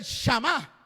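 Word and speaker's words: שמע: El Shama sin acento es la presencia tangible de Dios. Pero el acento en la última A, que es el Shama, eso ya es el oír con inteligencia.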